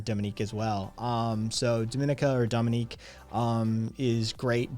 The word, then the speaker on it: Dominica: puerto rico's um uh dominica not the dominican republic but dominique depending on your pronunciation and where you're from and you know where